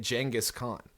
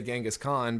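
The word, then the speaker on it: Genghis Khan: out of the gate he's pronouncing it jangus KH which is I I suppose how you pronounce it but even though I know that and with most people that I talk to I would probably still say genas Khan because like you know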